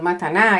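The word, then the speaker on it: מתנה: palabra raíz en hebreo que se pronunciaría en español mataná y quiere decir ofrenda, regalos y dádivas.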